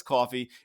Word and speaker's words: Kofi: If you're having a great time, hit us up on Coffee. It's spelled Kofi, but it's Coffee.